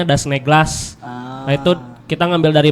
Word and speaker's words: Das Naglas: Jadi dibacanya kayak huruf E sebenarnya. Kalau penulisan bener A gitu. Kalau dibaca mungkin seringnya memang kita dipanggilnya Das Naglas pasti kalau baru pertama kali gitu. Tapi sebetulnya dibacanya Das Neglas.